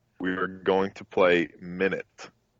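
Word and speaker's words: Minit: were going to play minute it's spelled mi nit anybody wants to look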